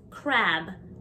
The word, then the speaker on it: crab: Crab, crab. Make sure that you emphasize the B at the end of the word, crab.